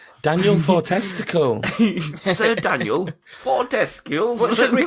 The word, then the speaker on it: Fortesque: The woman on one of the trailers was like, Daniel Fortesque, or Fortescue, that was it.